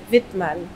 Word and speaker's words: Wittmann: Y se pronuncia en alemán, es Wittmann. Wittmann. Uh-huh. Vale. Pero no pasa nada tampoco. Aquí, vale. Aquí normalmente es Wittmann. Wittmann. Aquí en español es Wittmann.